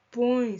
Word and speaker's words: põe: Ele, como é ditongo nasal, põe, ça vient du nez, c'est nasal, un son nasal.